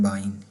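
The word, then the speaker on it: Bein: अगर मैं यहाँ पर लिखूँ कि हम लिखते हैं वाइन, नज़र आ रहा है आपको वाइन लिखा है मैंने, तो सेम प्रोनाउंसिएशन इसी तरह होगी ये वाली बाइन की। ठीक है। और अगर हम W की जगह यहाँ पर हम लिख दें बी, तो ये क्या बन जाएगा, बाइन बन जाएगा। तो ये वही वाली प्रोनाउंसिएशन ये होगी बाइन की, बे, AEN, ये वाली लेग वाली बाइन होगी इसको।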